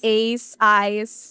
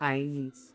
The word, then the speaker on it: Einz: Sorry, it's IINZ because people mispronounce my name. Again, EINZ. Many individual mentioned IINZ, Ace, but it's IINZ. Eyes.